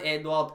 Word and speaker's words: Edouard: Edouard. You've got to put the French Edouard. in it. Edouard. Right, okay. You've got to get it right.